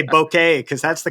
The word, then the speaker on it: bokeh: I actually have to train myself to say bokeh because that's the correct pronunciation I always fall in so many people say bokeh that's what and it's but then you're going